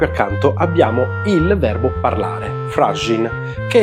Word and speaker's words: FRÁZIN: Per via del fenomeno della geminazione della consonante postonica semplice, che abbiamo visto nel video dedicato alle consonanti, la G sarà pronunciata doppia sia al presente sia al perfetto, perché immediatamente preceduta da una vocale tonica e immediatamente seguita da una vocale non tonica.